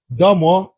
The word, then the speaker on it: De Moivre: are Gaussian distribution and De Moivre distribution. Now I have pronounced this name as this because this is He is a He was a French mathematician.